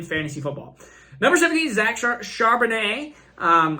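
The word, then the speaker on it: Charbonnet: football number 17 Zack Chardonnay um I think that's French there's a t at the end but I don't pronounce that t uh really middle of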